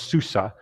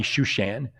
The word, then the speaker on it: Shushan: Susa in your Bible it might be shushan but it's the same place just a different way to pronounce the the Hebrew s there uh whether you have a h on it or not but in any case